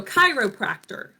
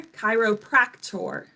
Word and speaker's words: chiropractor: So chiropractor, you can hear like the T in there, chiropractor.